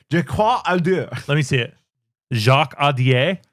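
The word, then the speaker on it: Jacques Audiard: Jacques Audier is how I'd say that. Why, Jacques Audier?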